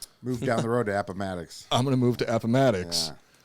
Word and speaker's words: Appomattox: at the opponent or i don't know matics appomattox okay i've i've only read this stuff so i i didn't know how to how to pronounce it appomattox courthouse marking the end of the civil war